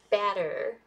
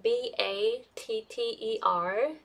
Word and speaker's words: batter: learn how to pronounce batter and butter so these are actually pretty different in American English but for a lot